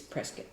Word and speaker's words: Prescott: say well that's like the town of presc which is spelled Prescott Co TT but it's presc what I like about